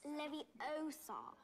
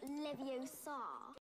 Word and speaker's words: Leviosa: Besides, you're saying it wrong. It's Leviosa, not Leviosa. Guardian Leviosa.